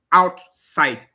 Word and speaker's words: outside: One example of them is outside. You see that when I want to say out, it's stressed. Side is also stressed. So the primary stress on the two syllables.